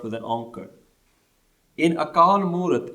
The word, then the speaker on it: Akaal Moorat: be pronounced with Moorat, it's one long word. Akaal Moorat. This is why when we pronounce the Mool Mantar, we don't stop at Akaal. We don't say Nirpao, Nirvair, Akaal, Moorat, Ajuni.